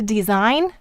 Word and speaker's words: design: in signal and then back to design we don't hear the the sound at all it's just the two-letter